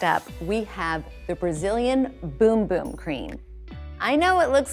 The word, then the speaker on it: Bum Bum: So next up, we have the Brazilian Boom Boom Cream. I know it looks like it says bum bum on the little jar here, but in Brazil, they pronounce it boom boom.